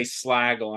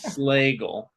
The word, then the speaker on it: Slagle: Yeah, and see, Slagle is spelled Slagle, where bagel is EL, but it sounds like bagel, but it's spelled LE. Right, right. Yeah, a lot of people say Slagle, and I'm like, no, it's Slagle.